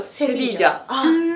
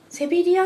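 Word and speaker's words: Sevilla: ン語の発音的にはセビージャなんで、セビリアって言われた方が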